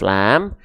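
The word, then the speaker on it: ل: Ya, di sini kita mendapati namanya huruf lam. Ketika dia belum berharokat namanya adalah lam. Jangan sebut huruf la. Nggak ada huruf hijaiyah yang namanya huruf la ya. Oke, ini namanya adalah lam.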